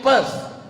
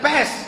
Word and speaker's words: Perth: I am going to Perth. Bukan pest. Kalau pest penyakit. Perth.